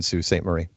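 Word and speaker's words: Sault Ste. Marie: Marie how do you get sue at it I would definitely because it's spelled its s au s o u LT sa u well LT it's it's French we have a French population so you know very lately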